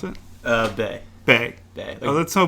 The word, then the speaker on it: Beh: I say Beh because it's B-E-H. How do you pronounce it? Bay.